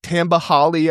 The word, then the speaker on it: Tamba Hali: Guys like Tamba Hali, I believe it was how you pronounce his name, back in 2006 at Penn State, he developed him.